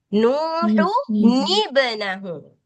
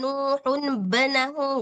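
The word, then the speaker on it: نوح ابنه: Oke, jadi bacanya nggak boleh wanada nuhun benahu, nggak boleh. Harus wanada nuhun ibnahu.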